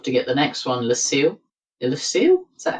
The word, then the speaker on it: Lucille: were lucky enough to get the next one lucil lucil is that how you pronounce it Lucille yes okay one and a black for a